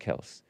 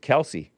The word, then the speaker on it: Kelce: The father got tired of correcting people. And so he just took Kelce. He started pronouncing it Kelce.